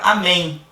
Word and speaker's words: amém: Mesma coisa, a gente observa aqui na letra M, na palavra amém. Observa que esse M aqui no final, ele tem um sonzinho de I.